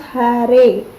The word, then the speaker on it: Hare: mantra krishna krishna krishna krishna the word hare pronounced hare krishna pronounced krishna and rama rhymes with dharma